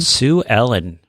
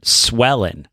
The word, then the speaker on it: Sue Ellen: Sue Ellen. We were corrected, and then, Dixon, because he's not here, will continue to harass him. I kept pronouncing it Swellen.